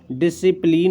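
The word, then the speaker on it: discipline: Otherwise इसका pronunciation नहीं करेंगे तो क्या करेंगे, एसेंट। ठीक है, डिसिप्लिन हो गया, डिसिपल हो गया, ठीक है, डिसिपल हो गया, साइंस हो गया, और इसमें सीजर्स हो गया।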